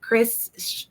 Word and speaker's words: Kschris: spelling of my name it's pronounced Chris and I'm just really